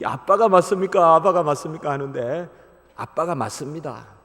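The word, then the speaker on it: אבא: 있었는데 얘도 뭐 이 아빠가 봤습니까 봤습니까 하는데 아빠가 맞습니다 아빠 예 우리 히브리어 러 에 그대로 읽으면 아빠입니다 영어식으로 읽으면 앞 압니다 영어식으로 예 영어는 비츠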